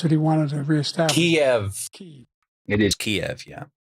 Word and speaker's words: Kiev: Kiev, not Kyiv. I can't stand that shit. It's not even just like a weird local pronunciation. It's how the word is written. You might even say it like that way if it was an English word.